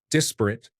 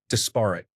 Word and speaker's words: desperate: We had a chief information officer who pronounced desperate as desparate.